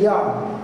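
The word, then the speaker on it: יד: say hand in Hebrew you say yah spell Y in Hebrew or if we're speaking English we would say y a d but the idea again is phonetically it's yah all right here's how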